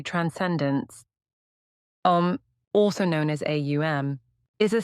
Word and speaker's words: Om: The Om, pronounced Aum, is often referred to as a symbol for God in the three aspects Brahman A, Vishnu U, and Shiva M.